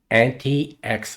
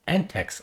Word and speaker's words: antiX: was pronouncing it wrong I was pronouncing it antix Linux and after I published it I found out the correct pronunciation is anex Linux so I apolog to